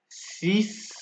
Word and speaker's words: six: So for X, for exceptions for X are six and index.